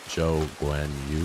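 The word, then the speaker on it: Zhou Guanyu: I feel bad because I can never say his name right Joe Gwen Yu I think is how you pronounce it their colors are awful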